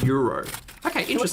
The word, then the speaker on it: gyros: Gyro or euro. Gyro. Euro. Yeah, the G is a Y.